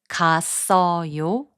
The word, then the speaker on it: 갔어요: When a syllable ends in a consonant and the next syllable begins with 이응, the final consonant sound moves to the next syllable.